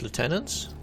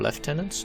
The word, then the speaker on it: lieutenant: Also mentioned killing his lieutenants. Oh, Edmond's stash. Cool. Um, the the left lieutenants or left tenants depending on pronunciation of course uh have not